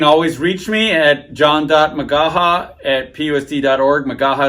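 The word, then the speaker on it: McGaha: Magaha is spelled M-C-G-A-H-A.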